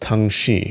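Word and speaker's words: 躺尸: In Chinese, reclining corpse is pronounced tang shi, which is like the Tang poem.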